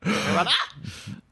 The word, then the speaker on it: nirvanA: The last A in Nirvana is capitalized, so you got to say it like that. Nirvana.